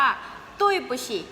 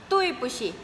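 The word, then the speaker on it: 对不起: คำ นี้ นะ คะ ออก เสียง ว่า ตุ้ย ปู้ฉี่ ตุ้ย ปู้ฉี่ ตุ้ย ปู้ฉี่ นะ คะ แปล ว่า ขอ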